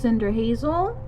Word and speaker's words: Cinderhazel: from going by my witchy wig you're right pronounced Cinder Hazel then she frowned at her broken broom